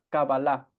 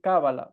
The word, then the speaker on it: Kabbalah: cuando escuchan la palabra cábala piensan que es suerte lotería aquí no estamos hablando de eso la pronunciación correcta en hebreo es cabalá en nuestras clases o